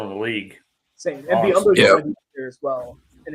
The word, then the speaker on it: Biyombo: Biombo, yeah, Bismack Bismack. Biyombo?